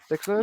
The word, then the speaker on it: Dexerto: Is that how you pronounce it? Dexerto?